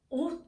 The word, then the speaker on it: ought: "ought to" 처럼 'o ' 발음 이 나 는 것 과 같습니다 . "Ought to" 에서 "ought" 부분 은 그냥 "o" 처럼 발음 됩니다 .